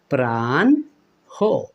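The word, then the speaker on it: প্রাহ্ণ: এভাবে উচ্চারণ করি কিনা দেখুন প্রাণ্য অর্থাৎ শেষের নটা ডাবল করে দেই হটা আর পড়ি না বা উচ্চারণ করি না কিন্তু এইটা কিন্তু বন্ধুরা প্রমিত উচ্চারণ ভঙ্গি নয় সঠিক কোনটা তাহলে হতে পারে বন্ধুরা প্রাণ হ প্রাণ হো এইভাবে কিন্তু সঠিক হবে বন্ধুরা আর একটি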